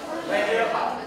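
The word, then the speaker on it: René: Rene Descartes itu bacanya Rene.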